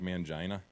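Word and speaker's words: Mangini: the call with Eric mangina but Sir Eric mangina he demanded it be pronounced man Gina Manto's people yeah anytime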